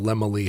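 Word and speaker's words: Laemmle: had run his Studio I never would have thought to pronounce it lemoy but what is this old Hollywood where you're hearing people say Carl lemoy has a very large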